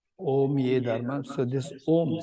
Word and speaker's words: Om: So, Om, we need to keep in mind that it's made of three letters. The syllable is made of 3 letters. A, U, Ma. And this is how the Sanskrit works. So, A, U, Ma doesn't become it becomes Om.